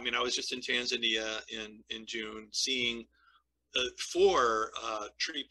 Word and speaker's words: Tanzania: We Westerners, we Tanzania, right? Because that's how phonetically it looks, but they pronounce it Tanzania.